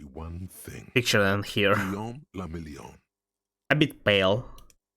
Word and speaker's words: Guillaume la Million: Guillaume la Million. A bit pale. If it doesn't rhyme, you're not pronouncing it right.